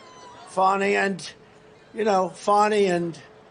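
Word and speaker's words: Fani: cases like funny funny it's spelled Fanny it spelled Fanny like your ass right F but when she became da she decided to add a little French a little fancy fny fonnie and you know fonny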